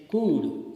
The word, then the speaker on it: could: Sometimes L remains silent, as in case could, C-O-U-L-D.